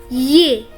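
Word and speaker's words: е: have day which is also a consonant then ye which is a vowel after that yo which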